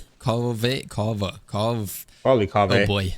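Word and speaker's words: Kaveh: No, my stream taught me how to pronounce his name, but I forget. It's like... Kava? Kave?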